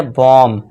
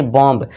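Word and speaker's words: bomb: अब देखें यहाँ पे एम तो है और एम के बाद क्या है बी है, तो यहाँ पे क्या हो जाएगा, बी हमारा साइलेंट हो जाएगा। बी क्या हो जाएगा, साइलेंट। तो बी यहाँ क्या है, साइलेंट है दोस्तों। तो इसे अब हम पढ़ेंगे बॉम्ब, ना कि बॉम्ब।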